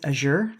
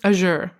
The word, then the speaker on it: Azure: I think it's Azure. Azure. Okay. So fancy. Sounds like au jus, the sauce.